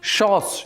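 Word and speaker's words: chausses: में यूरोप के अमीर पुरुष शोस यही उच्चारण है शोस नाम का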